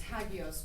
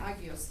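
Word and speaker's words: ἅγιος: i o s hagos or agios the cor pronunciation is hagos but they say agos today and uh Aya and I don't know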